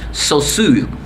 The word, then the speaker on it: Saussure: This is the name, it's a Swiss name, French name, Saussure.